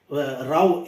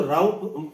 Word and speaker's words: Rau: अब अगर इसको हम डिटेल में देखें, उस बिल को 1948 के, उनके ऑब्जर्वेशंस के, राव RAU, इसलिए मैं इसको राव प्रोनाउंस कर रहा हूं, तो बेटियों को इनहेरिटेंस